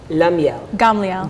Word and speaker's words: Gamliel: Her name is Ahuva Gamliel.